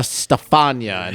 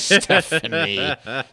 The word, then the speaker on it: Stefania: Yeah, it was Stefania instead of Stephanie.